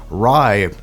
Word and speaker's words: Rai: over my first impressions rye actually stands for heaven in Romanian and it's spelled RA I I called something else